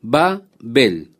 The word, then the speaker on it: Babel: Por esto fue llamado el nombre de ella Babel. O podemos pronunciar también Babel, como usted prefiera, como la palabra bárbaro.